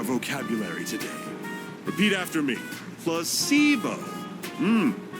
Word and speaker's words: placebo: today repeat after me plus SEO the stress is on the middle Sy very good you're figing